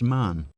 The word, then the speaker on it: Mahon: He had a Roman nose, a snow-white, long beard, and his name was Mahon, but he insisted that it should be pronounced Man.